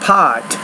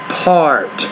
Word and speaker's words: part: and take that word it's not pot but part you want pronounce that R so we're perhaps the